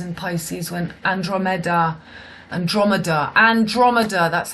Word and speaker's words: Andromeda: time Mars was in Pisces when Andromeda Andromeda Andromeda that's how you pronounce it Andromeda the pirate ship at the